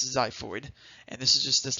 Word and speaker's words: xiphoid: we have the xiphoid process weird spelling it's pronounced the xiphoid and this is just this little tip notes